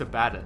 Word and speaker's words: Abaddon: We even got like one of those pronunciation bot things, and it's Abaddon. Yeah, It's a double Yeah, D, single I D. know, but I've always called him Abaddon, and it's really hard to break.